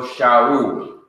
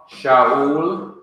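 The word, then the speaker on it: שָׁאוּל: This is Aleph, which is silent. This is Shurek, which is oo, a long oo sound. And this is Lamed or El, so Shaul. Min from Shaul, our English Saul, means from Saul.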